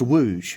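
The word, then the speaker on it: Łódź: Yeah, it's pronounced wooge obviously because of all the little accents on the letters.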